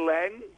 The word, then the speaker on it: Lange: the actor jesse jessica lo how do you pronounce the surname long lan lang lang central yeah jessica lange and so anyway i got a letter from